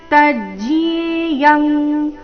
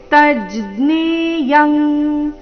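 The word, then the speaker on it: ತಜ್ಜ್ಞೇಯಂ: ಚ ಭೂತಭರ್ ಭರ್ತರಚ ಭೂತಭರ್ತೃಚ ತಜ್ಜಿಯೇಯಂ ನೀವು ಜಿಯ ಅಂತ ಹೇಳ್ತಾ ಇದ್ರೆ ತಜ್ಜಿಯೇಯಂ ಈ ರೀತಿ ನೀವು ಜ್ಞ ಜ್ಞಾನ ಜ್ಞ ಹೇಳ್ತಾ ಇದ್ರೆ ತಜ್ಞೇಯಂ ತಜ್ಞೇಯಂ ಈ ರೀತಿ ಬರಬೇಕು ಅನುಸ್ವಾರದ ಉಚ್ಚಾರಣೆ ಇಲ್ಲಿ ಕ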